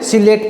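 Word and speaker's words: psilate: अपन सायलेट प्रकार का पी एस आई एल ए टी ई सिलेट या साइलेंट जिसको अपन बोलते हैं पी साइलेंट होता है इसमें अपन देखते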